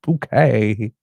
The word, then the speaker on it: Bucket: It's that infernal bucket woman. It's pronounced bouquet.